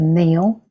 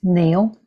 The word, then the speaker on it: Nile: But the Nile is actually correctly pronounced the Neil, by the way. And I learned that from when I was in Egypt in Cairo. It's pronounced Neil.